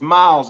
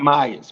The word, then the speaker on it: Miles: girl with the goles I said her last name wrong is Miles not Myers miles Olivia miles but yeah go